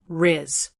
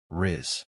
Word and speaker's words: rizz: It rhymes with the word quiz. Rizz. One short, clear syllable. Rizz.